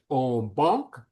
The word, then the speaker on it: en banc: It's actually the French en banc.